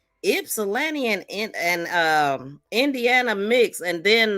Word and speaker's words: Ypsilanti: Ypsilanti is spelled different than what it sounds like, but that really stuck out.